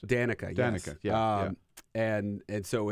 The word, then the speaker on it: Danica: Danica, is that how you pronounce it? Danica, yes.